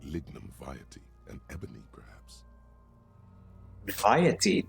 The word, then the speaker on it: vitae: Vitae, that's how you pronounce it. Always pronounce it as vitae, or something like that.